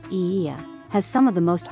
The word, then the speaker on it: Oia: Santorini Greece o IIA Village o IIA Village pronounced EA has some of the most beautiful views and